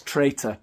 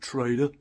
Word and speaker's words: traitor: later Roy Streeter Trader that's traitor by the way he just pronounces it Trader right who said that